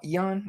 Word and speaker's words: Ion: Not Jan? It's Ion, whatever the fuck.